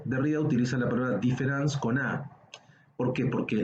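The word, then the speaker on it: différance: arriba utiliza la palabra difference con a por qué porque la la pronunciación es igual con e o con a se pronuncia igual dice ahora lo que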